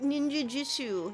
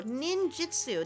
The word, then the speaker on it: ninjutsu: Um, Link wanted to show off his secret ninjitsu. Ninjitsu. Oh, there we go. Ninjutsu.